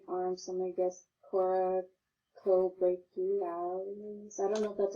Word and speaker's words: Coracobrachialis: So, coraco has 3, syllables to this, what I'm trying to say. So, coraco. Coracobrachialis.